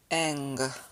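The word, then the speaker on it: γγ: for the n sound but the gamma gamma together is pronounced eng then we have n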